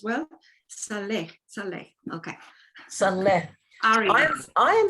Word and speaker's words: Salleh: you note, people note, that my surname, Salleh, is an Asian name. It's a Muslim name, actually, which I acquired through misadventure once when I was very young. And so it's the same pronunciation in the South Pacific Islands as well.